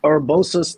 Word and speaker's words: Urbosa's: Yes, Urbosa's theme from Breath of the Wild.